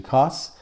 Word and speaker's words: Cos d'Estournel: So I wasn't sure if it's Co or Os, but it's actually Cos and then D'Estournel.